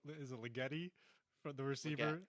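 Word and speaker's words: Legette: Is it Ligeti, from the receiver? Leggett, Thank yeah.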